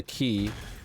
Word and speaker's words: Quay: Quay apparently you know Quay q-u-a-y is actually pronounced key I I didn't know